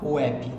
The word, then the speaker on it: WebP: Se escreve WEB, se fala WEP, tá?